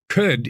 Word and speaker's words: could: I could do that could is kind of like cud I know it's spelled CLD I could do this but we say could I could do this